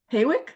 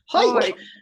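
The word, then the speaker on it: Hawick: that's pretty close actually ho hoik I just ignore ignore that W and pretend it's an old I would not have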